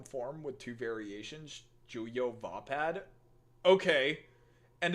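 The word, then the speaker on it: Vaapad: Maybe it's usually pronounced vapad. That's a weird spelling for it to be pronounced that way, but I will take your word on it.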